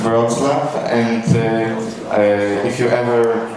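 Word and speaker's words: Wrocław: Uh it's pronounced Roslav.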